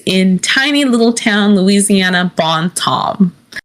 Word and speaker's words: Bon Temps: tiny little town Louisiana, Bon Tom. It's spelled BON space TEMPS, so it looks like Bon Temps, but it's Bon Tom. Because it's French, because it's Louisiana. Bon Ton, Louisiana.